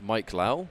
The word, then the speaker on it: Mike Lao: name is actually pronounced Mike Lao like as in first name Mike rather than yeah yeah